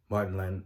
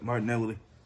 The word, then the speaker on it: Martinelli: out um about how martin land martin nelly let me say his name right martinelli martin nelly the brazilian